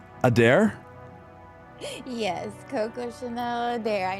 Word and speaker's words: Adair: I hope I'm pronouncing the last part right. Adair? Yes, Coco Chanel Adair. I know it's kind of a mouthful there. Okay, Coco Chanel Adair.